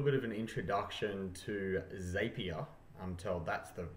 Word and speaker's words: Zapier: do a little bit of an introduction to zapier until that's the correct way to pronounce it I've made a bit of a